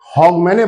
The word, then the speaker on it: Hogmanay: इसको जो एंड ऑफ the year है उसको हॉगमैने बोलते हैं, हॉगमैने ये उसकी स्पेलिंग है, HOGMANAY।